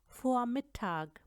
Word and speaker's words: Vormittag: अब वे का साउंड आप भूल जाएं क्योंकि जर्मन लैंग्वेज में फाओ को हम फ की तरह बोलते हैं। Zum Beispiel Vormittag, Vormittag, before midday ना, दोपहर से पहले।